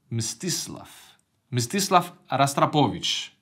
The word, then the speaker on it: Mstislav Rostropovich: Maestro Mstislav Rostropovich. I actually never could pronounce his name, even, you know, I have Russian origins, but Mstislav Rostropovich.